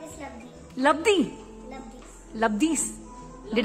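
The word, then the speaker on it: Labdhi: Hi, my name is Labdi. Labdi. Labdi. Labdi's. Did I? Labdi. It's a very difficult name. Labdi. Spell it out.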